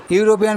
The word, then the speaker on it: European: সি is dash ইউরোপিয়ান lady, এখানে ইউরোপিয়ান বানানটা দেখো EUROPEAN, ই এর উচ্চারণটা ইউ এর মতো হচ্ছে, তাই এখানে ইউরোপিয়ানের আগে এ বসলো।